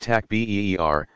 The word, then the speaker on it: takbir: Basic prayers include the takbir, saying Allahu Akbar, pronounced takbir, spoken 4 times, interspersed with longer devotional prayers calling down blessings on the deceased and on all present.